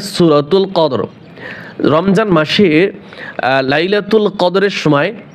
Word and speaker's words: القدر: কদর শুধু র উচ্চারণ হবে, রয়ের সাথে যে জবর জের পেশ থাকবে, এই হরকতগুলি ওয়াকফ করলে উচ্চারণ হয় না, শুধু হরফটা উচ্চারণ হয়।